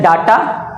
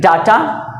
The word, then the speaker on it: data: अगला होता है DATA, तो इसको कहते हैं डाटा। कुछ लोग कहते हैं डाटा, डाटा नहीं होता है डेटा।